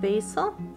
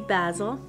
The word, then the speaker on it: basil: All right, we're gonna start with two kinds of basil, maybe basil. Depends on what part of the world you're in, how you pronounce it.